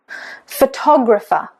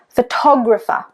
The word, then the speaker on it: photographer: What about this word? Photographer. Photographer. So the stress is on the second. It's actually on tog. Photographer.